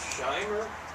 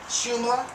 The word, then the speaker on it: Shumla: That other method was Shimer, is that how you say it? Shumla. How do you spell it? Schumer. S-H-U-M-L-A. Shumla.